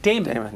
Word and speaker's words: Dammann: So thank you for the segue there, Dammann. Am I pronouncing that correct? Dammann, yeah. D-A-M-M-A-N-N. Yeah, a lot of M's, Two M's, two N's. Dammann.